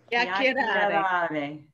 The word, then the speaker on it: chiacchierare: So this Chiacchierare. Molto bene. So the C-H-I, if it's Chianti, if it's key in Chianti, it's going to be key every time.